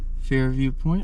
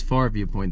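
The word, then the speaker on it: Farview Point: have just parked at Fair View Point or far view I me yeah it's far Viewpoint that's how you say it and that sign over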